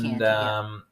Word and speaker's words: Chianti: It is Chianti, all right, yeah. It's spelt with a CH, but it's Chianti, Lo siento.